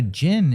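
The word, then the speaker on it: jinn: on camera and i i know it's spelled sometimes with a d like d j i n oh like a gin yeah yeah this one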